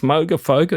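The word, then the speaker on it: Moogerfooger: Is it is it pronounced Moafoga? He went, "Yep."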